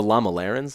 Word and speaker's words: Lamalerans: something in the book about how it's the Lama Larenz am I saying it right correct okay so